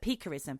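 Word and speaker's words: picquerism: Perism, not pa like when you eat clay, but peerism, which means pricking or stabbing of victims with a knife, pin, or needle, right?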